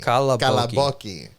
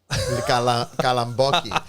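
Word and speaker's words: καλαμπόκι: Kalaboki. Kalamboki. I used to say kalamboki. Kalaboki is how it's pronounced, but kalamboki.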